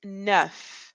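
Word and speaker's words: neuf: is nine and it's nu nu so if you can imagine you're like saying I've had enough I've had enough maybe Nu FF that is the word that we're saying here n lastly for at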